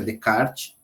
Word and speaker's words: Descartes: Cartesiano, porque vem de Cartésios, que é Descartes, embora a escrita seja Descartes, a pronúncia é Descartes.